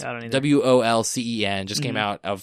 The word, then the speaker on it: Wolcen: And it's called Volcen. I don't know how to pronounce it. It's Wolcen.